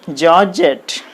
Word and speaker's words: georgette: net like that okay next georgette g o r g a t e georges syllable jet this is the second syllable so you put the stress on jet like this 100 this is the